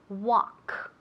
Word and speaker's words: walk: Okay, ask me if you can walk on the grass. Can you walk on the grass? Okay. Can you walk on the grass? Okay, muy bien. Walk. Walk. Okay, la L es muda.